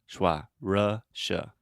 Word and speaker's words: Russia: Russia so with Russia Russia so the correct pronunciation is Russia okay you're saying Russia you're almost saying Lightroom